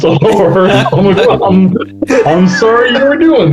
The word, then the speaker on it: Allor: I have heard people say Aller and I've been like, he happens to be a good friend of mine and it's pronounced all over.